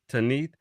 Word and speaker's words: Tanit: in the sun goddess Tanat pronounced Tanith um spouse of Bal